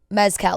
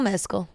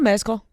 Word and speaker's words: Mescal: mcal we're trying to people say Mezcal like the alcohol and he says that is not right it's like more like